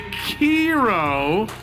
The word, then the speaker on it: Kiro: top two that's right the one and only kiro because that's how you pronounce k-i-r-o but hey we've uh